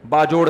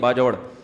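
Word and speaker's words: باجوڑ: बाजोड़ से। बाजड़ का जिसको बाजवड़ कहते हैं। असल प्रोनाउंसिएशन यह है बाजवड़।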